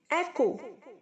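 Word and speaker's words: echo: ऑन, ऑन्ट, ऑन्ट, कमाना, ऑन्स, earning, ease, east, east, सुख पहुंचाना, ईजिस, ईजिंग, एको। बहुत सारे बच्चे इसे इको बोलते हैं, गलत प्रोनाउंस है बच्चों, इको नहीं, एको।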